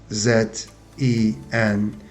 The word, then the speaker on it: zengin: And of course the adjective is, if we want to spell it, it goes Z-E-N-G-I-N, and you will see it on the screen. Zengin. So this is thin vowel, in, E.